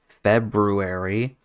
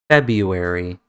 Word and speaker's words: February: to pronounce we've got February a lot of English speakers say February February or February both are correct in English nobody would judge you if you said one or the other so February February both